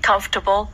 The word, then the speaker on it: comfortable: weeks네 그렇죠 to get comfortable to feel comfortable 자인데 뒤에 중간에 m 발음이 살짝 그 그냥 넘어가듯이 하더라고요 comfor 그렇죠네 그렇죠 자 이렇게